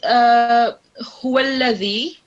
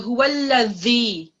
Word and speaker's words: هو الذي: So if you've done that, now put it forward, so upwards, and touch your upper teeth, and then press your upper teeth with your tongue, and then now pronounce it. So huwallazi.